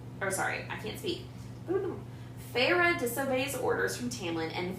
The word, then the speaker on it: Feyre: all right um summary feyre disobeys orders from tamlin and returns oh sorry i can't speak pharah disobeys orders from tamlin and ventures into callan